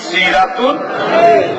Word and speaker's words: সিরাতুন্নবী: শব্দের অর্থ জীবন বৃত্তান্ত এই এই দুইটা শব্দের সাথে যদি আনবি শব্দটা যোগ হয় তখন উচ্চারণ হবে মিলাদুন্নবী সিরাতুন্নবী তখন অর্থ দাঁড়াবে মিলাদুন্নবী